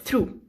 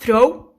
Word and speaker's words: through: through in this way you have to pronounce this word through okay through it's not throw through true it means if you